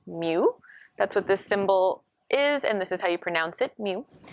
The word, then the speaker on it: mu: If we're trying to get the mean of a population, that is actually called mu. That's what this symbol is, and this is how you pronounce it, mu.